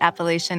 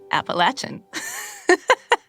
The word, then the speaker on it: Appalachian: That explains why I used to pronounce it Appalachian, and then I moved to Nashville, and then I started pronouncing it Appalachian. Yes, so both are correct.